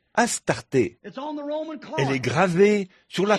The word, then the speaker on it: Astarté: DS ichtart a r ça se prononce aussi a S t a r T e accent aigu Astarté elle est gravée sur